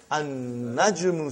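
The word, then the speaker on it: النجم: Now we have an-najmu. So how will you pronounce, brother? An-najmu ba'idun. You did not pronounce lam.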